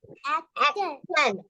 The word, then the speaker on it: action: This one, Action. yes, thank you. This Tion we pronounce sure. It gives Tion. It gives sure sound.